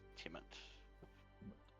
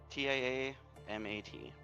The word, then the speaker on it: Tiamat: When the Queen of Dragons is mentioned, it you is spell that? almost always is Tiamut. Tiamat. And I am gonna double check mine. I'm pretty sure that's it. But... M-A-T, yeah. M-A-T. Yep, T-I-A-M-A-T.